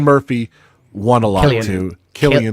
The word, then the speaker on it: Cillian: Killian. Killian.